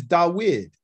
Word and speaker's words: Da'wid: of my name and pronunciation is da wid you know english is david and it has a